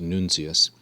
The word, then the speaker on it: nuntius: He says nam, notice again the M has been elided, for when hic nuncius, nuncius here is an alternative spelling of the classical nuntius, and thus almost certainly pronounced nuncius, for when this messenger,